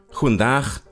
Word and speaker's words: goedendag: With the Dutch, goedendag, hoe gaat het met u? You see, the G in Dutch is pronounced ch, and Dutch has lots of chs.